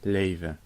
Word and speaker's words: leven: In leven, the L is at the start of the syllable, so it's liquid L. And the V is in between 2 vowels, so it is pronounced as an actual V. The first vowel is long because there's only 1 consonant between this and the next vowel. And the N may be dropped because this word ends with n. So pronounce it leven.